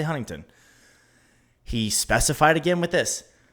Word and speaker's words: Huntington: It is Huntington. Now, I myself, I won't pronounce it like that. I'll say Huntington.